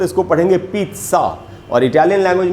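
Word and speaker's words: pizza: पिज़्ज़ा खाना, कुछ लोग बोलते हैं पिज़्ज़ा, कुछ लोग बोलते हैं पिज़्ज़ा। सबसे पहले तो इंग्लिश में इसका जो प्रोनाउंसिएशन, इसका जो इटालियन, ये इटालियन वर्ड है, इटालियन में इसका उच्चारण होगा पिज़्ज़ा।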